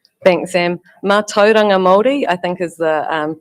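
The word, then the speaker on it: mātauranga Māori: Um, how will you incorporate uh ma was it maturangi moldi moldi knowledge into environmental planning and decision making? Thanks Sam. Manga moldi I think is the um pronunciation you were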